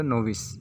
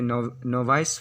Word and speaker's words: novice: अगर इसको तोड़ते हैं तो नोविस, इसे नोवाइस पढ़ा नहीं जाता है।